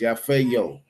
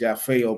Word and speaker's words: Yafeuh: Again, it's pronounced Yafo. Again, it's pronounced Yafo.